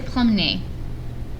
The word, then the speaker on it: promenée: Mélanie s'est promenée. Pronounced the same, but there's an extra e because it has to agree with Mélanie, which is singular and feminine, so we need an e.